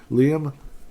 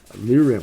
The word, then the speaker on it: Lirim: Liam Amadovsky. Lirim Amadovsky is a little bit more properly pronounced.